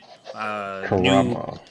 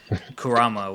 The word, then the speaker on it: Kurama: And Naruto and Kurama did this new Karama. Kurama, whatever. Fuck you. You the one mispronouncing his name.